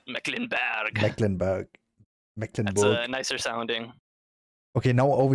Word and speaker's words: Mecklenburg: an english speaker but over here we say mecklenburg sounds pretty a little bit rough yeah i know it's just true it sounds like iceberg almost like mecklenburg nicer sounding okay now